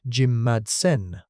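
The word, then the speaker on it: jimmadseni: And in 2020, it was reclassified as its own species, Allosaurus Jimatsini, pronounced Jim Madsen. I.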